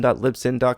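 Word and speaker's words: Libsyn: a pony for on1 Lipson calm remember that is spelled li b sy n sin like sync not sinful mmm you can also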